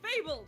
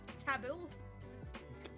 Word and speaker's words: Fable: It's Fable, not Tabil.